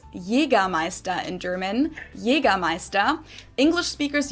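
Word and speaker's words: Jägermeister: way from shoes to alcohol this is pronounced yiga meister in german jaegermeister english speakers usually wow i've never ever heard it pronounced like that that's very very cool say it again announced yiga meister yiga meister in german jaegermeister accent and people also often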